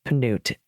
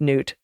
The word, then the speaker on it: Peanut: we all know it's panute or just Newt the p is silent thank you Elizabeth and